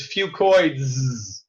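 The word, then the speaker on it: Fucoidz: I call it Fucoid Z because that's easier to pronounce. But really, the correct way to say it is Fucoids.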